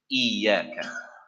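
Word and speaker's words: إِيَّاكَ: Iyaka. Iyaka. Not iyaka. Right? If you say iyaka, there is no tashdid. And so, especially also the younger children, iyaka.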